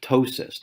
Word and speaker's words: ptosis: that term is called ptosis the p is silent ketosis is when the